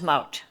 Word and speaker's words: Maud: And they said, Maud, well, in Dutch, my name, Maud, is pronounced Mout.